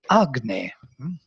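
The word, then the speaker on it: अग्ने: If it would be standing it in front, it would be Agne. Agne tuvam aritayavach. So it would bear the accent on the first syllable.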